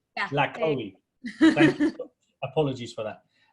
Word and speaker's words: LaCohie: How do you pronounce it? LaCohie. Yeah. LaCohie.